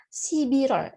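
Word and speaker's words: 십일월: Ingat ya, Sibirol cara bacanya.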